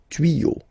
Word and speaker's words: tuyaux: Des tuyaux. Same rule. You don't pronounce it.